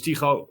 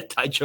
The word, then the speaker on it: Tycho: Um so yeah, my name is Tiko. Uh you're actually pronouncing it right, Stefan, and I think a lot of people won't be able to do that because yeah, Taicho or Tiko.